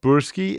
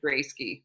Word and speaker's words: Broesky: Um, how do it's not, so it's not Bursky, it's Brodsky.